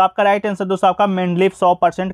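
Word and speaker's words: Mendeleev: ठीक है, सही उच्चारण आपका मेंडलीव है कि सन 1869 में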